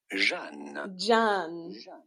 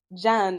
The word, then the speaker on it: Jeanne: Just say French, in France, we pronounce it as Jeanne. Jeanne, okay.